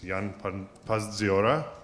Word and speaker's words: Jan Pazdziora: I hope I pronounce his name right. It's Jan Pazdziora, right?